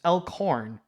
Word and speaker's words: Elkhorn: It's elk, like the deer, and horn, like the instrument. Elkhorn.